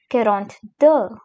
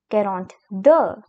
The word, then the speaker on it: quarante-deux: The next number we have is 42, which is quarante-deux quarante-deux Now comes 43, which is quarante-trois.